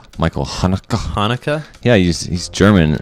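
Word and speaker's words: Haneke: director Michael I found out his name is pronounced Hanukah Michael Hanukah Hana yeah he's he's German and his last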